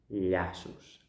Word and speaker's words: llaços: And then “llaços”, right? We think of "nya". NY, breathe, “llaços”. I tie laces. I tie laces. It is important that the tongue is stuck to the palate.